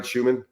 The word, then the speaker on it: Schuman: And once again, Coach Schuman, did I pronounce that right, Schuman?